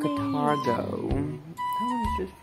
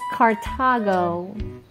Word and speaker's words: Cartago: Catargo. Catargo is Cartago. Catargo. It's Cartago. That's what I said. Catargo. Cartago. Catargo. Cartago. Catargo, yeah. Don't, you have to pronounce the R, you're not in the UK.